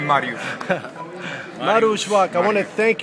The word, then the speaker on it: Mariusz: I think it's Mauricio. Maurice Marushwak Marushwak Marushbwak the gentleman who got perfect pronunciation of the of the name Marush Marushwak I want to thank you so much for allowing me to interview you.